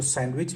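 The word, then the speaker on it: sandwich: सैंडविच में डी जो है यहां पर साइलेंट है।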